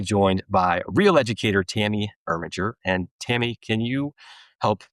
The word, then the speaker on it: Irminger: My name is Tammy Irminger. I always teach my kids how to say my name, Gur like a tiger. So, Tammy Irminger.